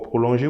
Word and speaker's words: prolonger: So here, for prolonger, when you have ER, we need to pronounce it E. So prolonger.